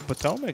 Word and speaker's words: Potomac: The Potomac.